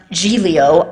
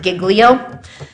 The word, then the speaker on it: Giglio: it's the Brady and I've heard it now pronounced gelo I being from not where other people are from pronounce it Giglio um but if whether it's Gio or Giglio uh vadir you know